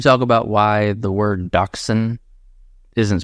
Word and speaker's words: dachshund: Because it's German, and it's like I don't get dachshund. So we're not saying it right, is what you're saying. It's not dachshund. Dachshund or something. Dachshund. Like Dutch hounds? That would make sense. Dutch hound. Dachshund. Welcome to America.